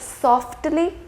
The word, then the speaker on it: softly: For example, the word softly and swiftly.